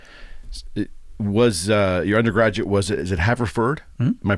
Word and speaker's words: Haverford: Was your undergraduate, is it Haverford? Am I pronouncing that correctly?